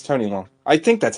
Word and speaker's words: Tony Leung: It's Tony Leung. That's right. Yeah, it's Tony Leung.